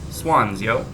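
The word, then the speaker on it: Xuân Diệu: and SH sounds, but Vietnamese also has both a hard D and a soft D, which is pronounced as a Z sound. So, it's pronounced something like Swanzio.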